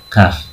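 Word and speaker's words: كاف: Ada qaf, ada kaf. Beda kan? Qaf agak nyengklik, kaf ringan bacanya.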